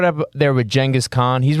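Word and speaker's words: Genghis: all the greats and yeah I said D Jenis that's how you say it J don't be saying genas sound uneducated chingus um so you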